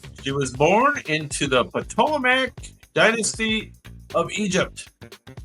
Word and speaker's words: Ptolemaic: She was born into the Ptolemaic dynasty of Egypt, or if I don't pronounce the T, Ptolemaic dynasty of Egypt.